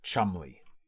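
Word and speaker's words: Cholmondeley: necros what's the spelling c h o l m o n d e l e y pronounced Chum gather up the others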